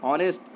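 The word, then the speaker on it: honest: यहाँ पे हम क्या पढ़ रहे हैं, ऑनेस्ट, एच का साउंड क्या है, साइलेंट है।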